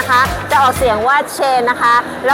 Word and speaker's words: Shein: คน สเปน นะ คะ จะ ออก เสียง ว่า เชน นะ คะ แล้ว ก็ ตอน นี้ นะ คะ